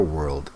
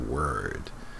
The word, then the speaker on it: world: phrase how beautiful our world is the grammar poor pronunciation its world not word word is oh I guess